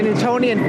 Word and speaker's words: Newtonian: newtoni spell that word n e w t o n i a n oh like Newton yes Isaac Newton yes